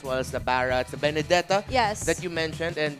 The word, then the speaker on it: Benedetta: Yes, how do you pronounce it? Benedetta, because that's the Yes.